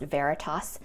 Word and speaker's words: Veritas: This is pronounced Veritas, and this card inside, you can open it up with your phone. Each mask features a unique Veritas NFC card that provides information on how your individual mask delivers results.